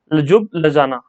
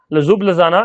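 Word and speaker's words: Ljubljana: ये स्पेलिंग थोड़ा सा अटपटा है, यहाँ पर देख लेना। लजुब लजाना, लजुब लजाना ये कैपिटल है स्लोवेनिया की, तो नोट डाउन कर लेना और याद कर लेना।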